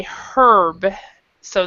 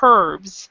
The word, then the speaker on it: herbs: Some people say herb, so they pronounce the H, so they say herbs, and then other people do not pronounce the H and they say herbs.